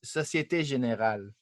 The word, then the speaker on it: Société Générale: What's the French way of pronouncing it? Sorry, where is it? I don't see it. I have it up here on the stream. Oh yes, Société Générale. Okay, there we go. We have the French speaker there that pronounces it the right way.